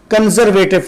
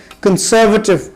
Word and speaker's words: conservative: کی ruling party ہے، تو اس کا تلفظ ہمارے ہاں کرتے ہیں لوگ کنزرویٹو پارٹی، حالانکہ یہ ہے کنسرویٹو پارٹی۔ پھر کریسنٹ، جیسے ریڈ